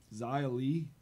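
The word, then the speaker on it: Xia Li: Zia Lee.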